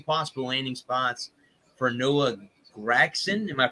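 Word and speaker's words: Noah Gragson: Here's but I got another article: 3 possible landing spots for Noah Gregson. Am I pronouncing that? That's right. Very good. Noah Gregson.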